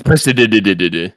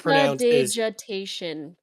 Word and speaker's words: prestidigitation: It's prestidigitation.